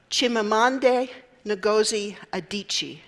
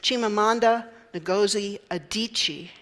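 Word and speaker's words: Chimamanda Ngozi Adichie: However, the Nigerian author Chimamande Goi Adichi, let me say her name again, Chimamanda Negi Adichi also suggests that there can be dangers in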